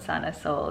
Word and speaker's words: Sana Sol: So it's spelled S-O-L again in Spanish, and it means sun in Spanish. But if you say it out loud, Sana Soul, it's kind of like healing your soul, like your being.